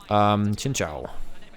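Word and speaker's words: Xin Zhao: It's also why we're seeing Alistair Shinzao being played an awful lot. Chinchao. It should be technically how it's pronounced.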